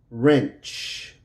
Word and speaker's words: wrench: So we're going to, the W is silent and the E will be silent also. Right, right. Wrong, wrong. Wrench, wrench.